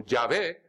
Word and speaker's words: Yahvé: Y no hay ningún mal en pronunciarlo tal como estaba en hebreo, como Yahvé, según me dijo el